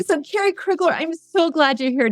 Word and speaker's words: Kerry Krueglar: name this is like an interrogation here of Carrie krugler I was gonna say it correctly so Carrie krugler I'm so glad you're here today one of